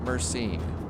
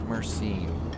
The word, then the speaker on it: Mersin: It's pronounced Mersin. Thanks, Widget Warrior. It's pronounced Mersin.